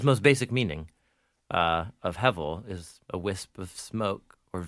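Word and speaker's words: הבל: The Hebrew words, simple to say, it's not hard to pronounce hevel. - Hevel. - Hevel. H-E, it's technically the letter B of the Hebrew alphabet, but it pronounces like V.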